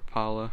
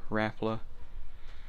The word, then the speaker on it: Rapala: Cause I got pliers with a little string on it from Rapala or Rapla. However anybody wants to pronounce this, Rapala or Rapla? I say Rapala.